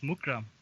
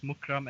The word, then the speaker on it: Mukhram: Is it how do you pronounce the name, Keith? It's the surname. It's Mukhram. It's Mukhram actually.